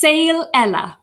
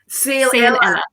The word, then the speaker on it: Saol Eile: to correct me in the spelling and the pronunciation, right? Because obviously I got Helena Saol Eile, is that right? It's Saol Eile. Saol Eile.